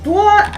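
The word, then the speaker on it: 多: So the dwuh is higher pitched than the shao.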